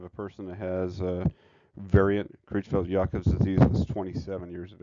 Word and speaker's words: Creutzfeldt-Jakob: So how you say it is Creutzfeldt-Jakob's disease.